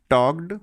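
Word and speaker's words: talked: टॉक्ड बेटा इसे टॉक्ड ही पढ़ते हैं। एल इसमें साइलेंट होता है।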